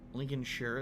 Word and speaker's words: Lincolnshire: that there lincolnshire is a lincolnshire lincoln sure that's how you say it so it's not this